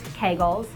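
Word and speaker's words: Kegel: the first exercise is kull if you're not familiar with kull or they're sometimes pronounced Kagel it's the contraction of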